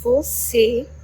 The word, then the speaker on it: você: For example, E, E, as in você, você, which means you, and o, as in avô, which means grandpa. Notice that the sound of the circumflex closes the sound of the vowel.